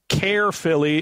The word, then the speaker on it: Caerphilly: His hometown is Caerphilly in Wales. Caerphilly, C-A-E-R, Philly. There's no way that's correct. Totally butchered.